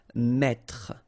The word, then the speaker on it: mettre: That's the reason why you will pronounce mettre, mettre.